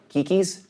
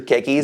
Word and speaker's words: keikis: So if I say the word, and hopefully I'm saying this right, the kikis? Keikis, yeah.